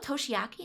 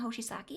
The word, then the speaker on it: Toshiaki: Oh, she's Oh, Toshiaki, not Hoshiaki.